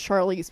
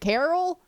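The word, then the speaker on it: Charlise: keep telling him it's Charlize, but he's like, Carol? Or Cheryl, or Karen?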